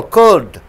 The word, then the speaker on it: could: out through your nose the l is silent over here you see here could you don't say curl could could should would almost you